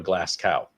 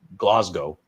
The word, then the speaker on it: Glasgow: sure, that said, uh, here's how Americans pronounce Glasgow. And it was a picture of a glass cow. Glass cow. Like would say when they say, right? What they would say is Glasgow.